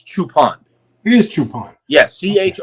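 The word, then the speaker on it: Choopan: honei and by the way I heard it's chopan not chupan is that do you know if that's true it's chupan it is chupan yes ch o o p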